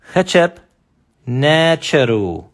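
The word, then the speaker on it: ḥtp nṯr: So this word is pretty much translated as hechep necheru, or necher. Now, necheru is plural. So this is hechep necher. Hechep necher. That's how it's pronounced.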